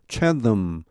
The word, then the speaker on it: Chatham: Robin Liverland, Director of Chatham. 요 TH 발음은 터입니다. 터. 고유명사가 이렇게 터로 나는 게 있죠. TH가 타머스 이렇게 할 때처럼.